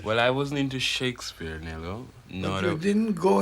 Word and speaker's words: Shakespeare: or shakespeare yeah yeah nobody in the caribbean have i ever heard the shaka spear they said shakespeare this it's shakespeare yes well i wasn't into shakespeare nello no you didn't